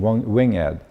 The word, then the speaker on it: winged: The pronunciation, winged, this is accent aigu in French, right? For emphasis, right? So pronunciation winged.